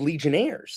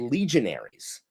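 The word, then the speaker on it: legionary: she reminded me of they're not called legionnaires. That was from the French Foreign Legion. They're called legionaries. Yeah. So like I think most people don't know that they're not legionnaires. They're legionaires.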